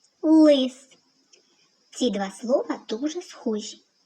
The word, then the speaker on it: лис: Але в слові лис звук л вимовляється твердо. Він твердий. Це твердий приголосний лис.